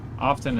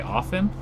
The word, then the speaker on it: often: Often is another kind of. Some people say often. There's a T in it, so I say often.